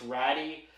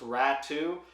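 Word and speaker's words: Raty: it's looks like it's ratty but I've confirmed with people of European descent that it is pronounced rat too so a bit of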